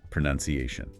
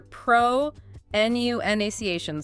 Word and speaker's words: pronunciation: let me guess, is pronunciation. Perfect. Yes, I hear pro nu naciation so much. It's like people see the word noun in there.